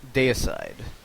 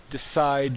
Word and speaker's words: Deicide: It's almost like a play on D-side. Yeah. You know, you get Well, to decide judgment. I guarantee that there will be people at FNM who are mispronouncing that who will drive me crazy and calling it Decide.